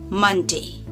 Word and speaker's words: Monday: Just like fun, bun, run, mun. Okay? Monday.